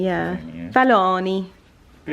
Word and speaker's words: Fellaini: i mean i was pronouncing it falcone for a long time but it's no see there is no scene it's luca fellaini yeah yeah fellaini but it's nice joe